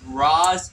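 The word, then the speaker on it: Ra's: you say his name I go R but in that universe is RZ so I'm going to say RZ for only that Universe he left RZ out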